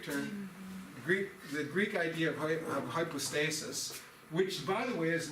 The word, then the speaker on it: hypostasis: Hypostasis, we're using the modern Greek pronunciation of the Greek words.